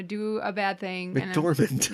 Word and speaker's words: McDormand: McDormand. McDormand, and say it wrong.